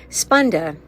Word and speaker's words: Spanda: Spunda sp a n da is how that's spelled is when sovereignty meets relationship with self and others all sentient beings and their relationship.